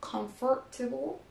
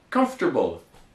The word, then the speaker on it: comfortable: Okay, so one more time, on ne dit pas donc comfortable, qui serait trop dur à prononcer, mais donc justement, comme les anglophones le prononcent, c'est plus facile. Comfortable. Comfortable.